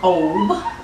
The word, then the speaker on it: Ob: In Kemetic terms, it is known as Ab or Ob, which is spelled A-B or O-B.